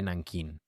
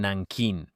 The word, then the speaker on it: Nanjing: Muchos la llaman Nankin, como la pronunciaban estadounidenses y angloparlantes alrededor del 37 y 38 cuando ocurrió la atrocidad. Antes de tener una transliteración completa del mandarín al inglés, la llamaron Nan Kin.